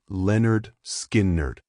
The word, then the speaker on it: Lynyrd Skynyrd: In August 1973, they released their debut pronounced Leonard Skerd.